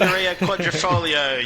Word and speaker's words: Scuderia Quadrifoglio: Scuderia Quadrifoglio. You have to say it with the Italian accent.